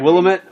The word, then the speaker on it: Willamette: Willamette you have to be a local to pronounce it but it's close as I said well Emmett you should Willamette Willamette I willamette that's a lot of work